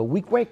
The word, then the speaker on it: Weequahic: we've been doing it, I never went to Weequahic. That's how you pronounce it, yeah, Weequahic?